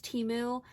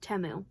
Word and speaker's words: Temu: on temu and teu temu I thought it was teu there was a commercial for it um during the Super Bowl and they pronounced it temu and I was like